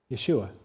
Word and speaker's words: Yeshua: If you were to say it in Hebrew, do you know how you say it? Yeshua.